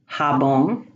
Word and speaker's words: jabón: The J is pronounced like the H in hat. Jabón, joya.